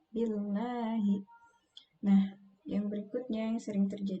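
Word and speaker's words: بالله: Lamnya tipis, tarkik ya, billahi. Nah, yang berikutnya yang sering terjadi kesalahan itu huruf a yang tidak jelas dibunyikan. Bunyinya menjadi a'udzu billahi minasy.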